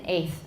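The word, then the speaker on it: eighth: be omitted altogether, and I omit the T in 8th. I've never said the T in 8th as far as I know.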